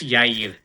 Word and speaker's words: Yair: You got the ear part like correct, but it's Yair.